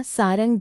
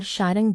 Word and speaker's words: शारंग: हिंदी में उच्चारण के कारण इसे सारंग भी कहा जाता है।